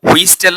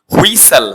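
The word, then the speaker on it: whistle: হ্যাঁ, টিটা অনেকে বলে থাকে, যারা জানে তারা হয়তো বা বলে না, কিন্তু হুইস্টেল না, এটা হচ্ছে টিটা সাইলেন্ট থাকবে। হুইসেল, হুইসেল তো কি বাঁশি, হুইসেল বাঁশি।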